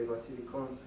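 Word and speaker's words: βασιλικόν: because I did say Vasilikon. At the time it was borrowed, ultimately, in a sense, from Greek culturally. Nonetheless, Greek was pronouncing B, as we have in the word basilica, as a V already.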